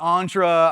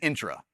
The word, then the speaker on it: Entra: Uh, intra entra. I've heard every pronunciation of this one. It is intra just just so y'all know.